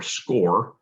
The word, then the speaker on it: SCCORE: So CCO came up with a program that we call, it's spelled SCCORE, or SCORE.